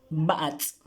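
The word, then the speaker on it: ba'ats': La TS y un apóstrofo, se pronuncia como DZ, AA, bats, bats, mono, bats, bats.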